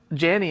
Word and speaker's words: Janney: you want people like Janney in there, rhymes with Annie.